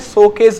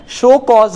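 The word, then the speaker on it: show cause: है, वो बोलते हैं शोकेस नोटिस, शोकेस नोटिस बोल देते हैं। तो मैं आपको क्लियर कर दूं, उसका राइट प्रोनाउंसिएशन दोस्तों जो होता है वो होता है शो कॉज नोटिस।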